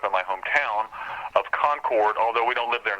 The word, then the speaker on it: Concord: in the case of North Carolina is actually pronounced Concord that's my hometown Concord North Carolina and when